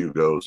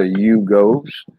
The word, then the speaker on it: Yugo: I remember the Yugos. That's a double syllable, two syllable word for you go, boy.